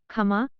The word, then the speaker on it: क्षमा: यहाँ याद रखना चाहिए कि बांग्ला में क्ष का उच्चारण ख होता है यदि यह पद के आरंभ में हो। उदाहरण के लिए क्षमा, खमा, क्षिति, खिति, क्षुधा, खुदा। लेकिन अन्यत्र क्ष स्वर का उच्चारित